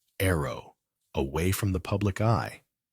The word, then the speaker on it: ARO: Ozzy and Sharon's eldest daughter, Aimee, has created her own musical identity as ARO, pronounced Arrow, away from the public eye.